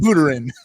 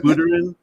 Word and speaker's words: Buterin: Vitalik, whatever your name is, however you pronounce it. Buterin. Vitalik Buterin.